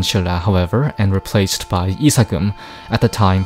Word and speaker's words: isakum: The title of Koseogun was soon abandoned in Silla, however, and replaced by Isagum, at the time pronounced Nisgum.